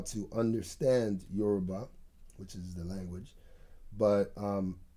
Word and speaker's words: Yoruba: Yoruba, yeah.